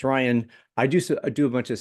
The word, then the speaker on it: Rijon: Rijon is pronounced Ryan.